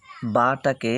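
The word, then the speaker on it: بے: বাটাকে আমরা যেমন বা বলেছি আরবিতে, এখানে আর বা বলা যাবে না, এখানে বে বলতে হবে।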